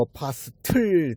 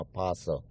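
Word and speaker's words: apostle: 그리고 어파스틀, T가 들어가서 어파스틀로 발음해야 되는 줄 알았더니 T는 발음이 안 나고 그냥 어파슬.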